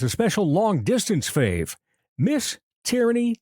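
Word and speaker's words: Teariney: I did not mispronounce, but it is spelled differently than what you might be thinking. Tyranny, T-E-A-R, as in a tear. Tear, I-N-E-Y, Tyranny.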